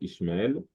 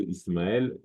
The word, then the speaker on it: Ismaël: Ensuite, le SH peut se prononcer en son S. Par exemple, les Juifs actuels vont dire souvent Ishmaël. Au lieu de Ismaël, Shlomo.